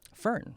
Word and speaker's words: Fern: How do you pronounce her name, though? Fern.